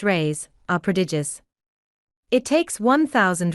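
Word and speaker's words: reis: a lady hails from the Portuguese pennies or race pronounced rays are prodigious it takes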